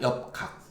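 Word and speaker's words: 獵較: 요거를 교라고 읽기도 하고 각이라고 읽습니다. 엽각.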